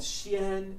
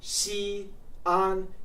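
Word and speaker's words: Xi'an: that Chien so this city is not called Chien it's called XI on two separate syllables my own Chinese name has a has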